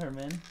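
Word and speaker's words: Germán: Wait, is it actually pronounced Herman? Yeah. Oh, I've been calling him German, though.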